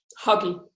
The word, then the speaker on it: Hagi: I'm here with Hagi. Am I pronouncing that okay? Huggy, yeah.